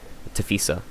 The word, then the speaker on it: TAFISA: olympic committee or tafisa tafisa yeah that's how you pronounce it tafisa i always pronounce it wrong but if you look